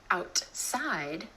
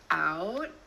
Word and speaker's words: outside: Another time you're going to hear the held T is at the end of a syllable when the next syllable starts with a consonant sound.